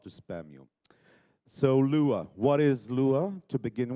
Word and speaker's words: Lua: decided to put it into redus uh it's pronounced Lua and in Portuguese it means Moon and please